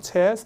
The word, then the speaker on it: chairs: 여기서 이제 조심하실 게 여기 이제 알발음 빠지죠. 그러니까 chairs 이렇게 쓰는 건데 occupy가 무슨 뜻이 있냐면 사용하다, 점유하다 이런 뜻이 있어요.